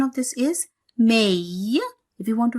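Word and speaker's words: haïr: One more example I'll write here. I. Here again 2 dots on I. And here see H. I'm not pronouncing H because H is silent.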